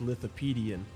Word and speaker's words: Lithopaedion: way to pronounce it it sounds like Wikipedia but it's little PD and with the PD and